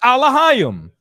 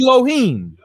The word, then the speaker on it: Elohim: We pronounce it Alahayim. Okay, they pronounce it Elohim.